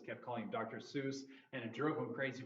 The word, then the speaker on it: Seuss: sois and he had some kind of rhyme with that I forget the dr. sois like rhyme rhymes with noise not whatever yeah it was originally dr.